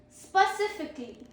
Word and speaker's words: specifically: Okay, then is specifically, SPECIFICALLY, specifically, meaning is in a particular or an exact way, specifically. Pro tip is 5 syllables, don't rush it.